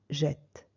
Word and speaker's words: jette: Mais ici, lorsque j'ai un E muet, je vais doubler le T pour obtenir pour ouvrir ce E, pour obtenir un est ouvert. Vous voyez, jette, je jette.